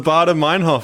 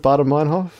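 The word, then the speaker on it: Baader-Meinhof: It's definitely for sure 100% not pronounced like that. But it's the Baader Meinhof phenomenon. Okay, I believe you. In my mind, like, I remember my mnemonic device is Darth Vader and David Hasselhoff shaking hands.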